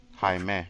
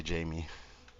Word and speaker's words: Jaime: I learned how to pronounce it from There's someone out there. the Blue Beetle movie. I used to say Jamie. I was wrong.